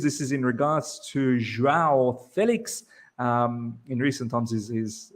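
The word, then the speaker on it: João: This is in regards to Joao Felix. In recent times, he's said how to pronounce his name.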